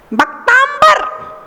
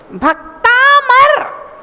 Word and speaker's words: भक्तामर: भक्तांबर, भक्तांबर नहीं है, भक्तामर।